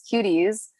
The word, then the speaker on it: QTDIES: But basically our name is Cuties, but it's spelled QTDIES, which stands for Queer, Trans, and Disabled Individuals for Equality in Society.